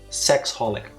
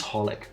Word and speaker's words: xxxHOLiC: knew what it was I always read it as sexholic oh it's just holic okay why do they